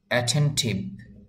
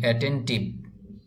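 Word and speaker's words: attentive: অ্যাটেন্টিভ মানে হলো মনোযোগী এই শব্দটিকে যদি আমরা এভাবে বলি এটেন্টিভ তাহলে এটার উচ্চারণ হবে তবে এই উচ্চারণটি হয়ে যাবে আমরা যারা বাঙালি আমাদের বাঙালিদের মতো আমরা এটাকে উচ্চারণ করে ফেললাম যদি বলি এটেন্টিভ বাংলা ভাষার মত উচ্চারণ হয়ে গেল যদি আপনি এভাবে বলতে পারেন অ্যাটেন্টিভ তাহলে এই উচ্চারণটি বা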